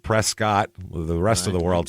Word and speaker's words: Prescott: I lived there and I would say Prescott and if Prescot I'd go no no no I'm talking about the one that's spelled p r s c o TT that one right yeah